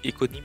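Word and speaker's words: oïconyme: Oiconyme c'est éconimme ça s'écrit Oi mais c'est du grec et c'est c'est écho échos.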